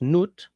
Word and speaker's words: Nut: The the word may have come from the French from the German nut pronounced noot, meaning groover slot.